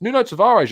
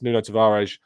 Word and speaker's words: Nuno Tavares: money on who knows new notes of orange I'm forgetting about you're right here here I'm sorry I mispronounced that um but uh yes Nuno Tavares I don't necessarily see